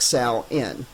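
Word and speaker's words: Samhain: Sin, that's pronounced like sa nin.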